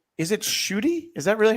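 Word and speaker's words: Ncuti: so do you say his name is it shooty is that really how you say it yeah so yeah so shoy gatwa gatwa yeah I was like well just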